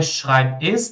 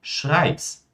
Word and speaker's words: schreib's: Então, não é schreib es, nem kann es, mas sim schreib's, kann's.